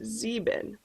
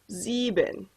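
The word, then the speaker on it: sieben: here heinz excuse me seven is pronounced zebin and here's a little trick for pronouncing german words here we have two vowels together and it'll sound more like the second vowel so sound more like an e here so zeben it's okay if you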